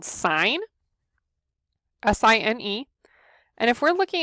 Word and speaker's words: sine: Okay, so to abbreviate that, we can say sine A, or the sine of angle A. It's not pronounced sin, even though the E is not on it.